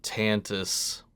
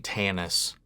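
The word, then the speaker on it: Tantiss: we go Shadows of tantis why do I keep saying Tannis I mean I guess like that's the West Virginia and me I guess not pronouncing the T but I legitimately thought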